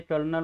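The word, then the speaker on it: colonel: Spelling होतं tunnel म्हणजे आपल्या सैन्यामध्ये कर्नल म्हणतो की नाही त्यांचं स्पेलिंग सी ओ एलओ एन एल असतं हे कायम लक्षात ठेवा. आम्ही शाळेमध्ये असताना फार फसवायचो विद्यार्थ्यांना कर्नलचा स्पेलिंग्स आहे स्पेलिंग सांगा म्हणून कारण ते उच्चार वेगळा असतो आणि स्पेलिंग वेगळे त्याच फल इन द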